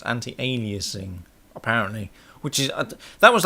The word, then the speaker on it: anti-aliasing: by somebody um yesterday on Skype for say anti- analyzing it's not anti- analyzing it's anti-aliasing apparently which is that was like a t